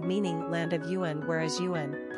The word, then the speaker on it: Eoghan: Tyrone is the name of a county in Northern Ireland, from the Irish Gaelic Tir Eoghain meaning land of Eoghan, whereas Eoghan, pronounced like Owen, means born from the yew tree.